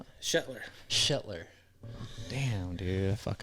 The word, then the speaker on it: Shetler: Shteler. Did I say your last name right? Nope. No, how do you pronounce it? Shetler.